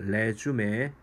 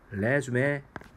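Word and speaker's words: résumé: 이력서 바른 리즘 이 아니라 내 쯤에 라고 발음합니다 레쥬메 이게 프랑스 원인 것 같아요 그래서 발음이 영어 시카고 좀 틀립니다 그래야 주매 knu 으 케이크 어 블루 아트 말 레쥬메 안되겠죠 나는 너에게 그렇게 멋진 그림이 있는지 몰랐다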